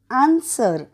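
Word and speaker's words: answer: डब्ल्यू पुढचं बघूयात एन एस डब्ल्यू ई आर आन्सर म्हणजे उत्तर आणि इथे सायलेंट लेटर आहे डब्ल्यू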